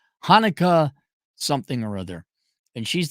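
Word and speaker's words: Hanneke: Verge and it's Hanukkah the only reason I remember how to pronounce her name because it sounds like the Jewish holiday Hanukkah Hanukkah something or other and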